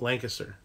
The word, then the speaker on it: Lancaster: like the word length Lancaster should be three level three so should be three syllables Lancaster but if you're from here you never say Lancaster or you say Lancaster you just kind of slam it all together and spit it out do you see that